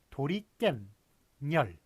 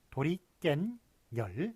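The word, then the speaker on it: 도리깻열: 자, 예를 보시면 도리깬열, 도리깨와 그 다음에 열, 요 두 개가 합친 것인데 발음을 어떻게 합니까? 도리깬열, 도리깬열. 그래, 깬에 니은 더 들어가고 열에 니은이 또 들어갑니다. 그래서 도리깬열.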